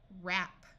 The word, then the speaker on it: wrap: this should be WR WR at the start of a root the W will be silent so this sound is r ER wrist wrist wreck we can add suffixes wrecking wrap wrapper wrapping wrench Ren